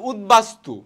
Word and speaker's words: উদ্বাস্তু: শব্দের আগে বসে রাইট এই উপসর্গের সাথে যদি ব এর উচ্চারণ হয় ব এর উচ্চারণটা কি থাকবে বহাল থাকবে যেমন উদ্বাস্তু ব এর উচ্চারণ কি পেয়েছি আমরা এই যে এখানে দেখতে পাচ্ছি উদ্বেল বয়ের উচ্চারণ রয়েছে ভাই আপুরা আছে উদ্বেল